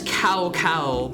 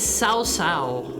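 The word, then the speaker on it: Cao Cao: You would also think his name is CowCow, but if I remember right, he's Sao Sao.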